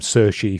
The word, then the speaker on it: Cixi: in Chinese as well because like the name SEI for example is spelled cixi and it's like yeah it's in